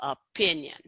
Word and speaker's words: opinion: So if you notice opinion, that we need to make sure that we put the most stress on that second syllable, opinion.